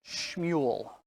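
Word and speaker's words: שמואל: In Hebrew, his name is actually pronounced Shmuel.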